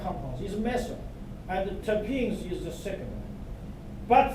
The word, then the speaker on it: terpenes: T-E-R-P-N-E-S, pronounced as terpenes.